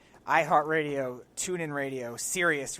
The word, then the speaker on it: Sirius: Heart Radio tuning radio sirius radio spelled like the word serious serious oh yeah Oh or